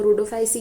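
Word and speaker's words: Rhodophyceae: रोडोफाइसी मतलब रेड एल्ग आप ये रोडो रोडो रेड जैसा प्रोनाउंस कर रहा है तो आप उसको रोडोफाइसी याद रख लो ठीक है कॉमन नेम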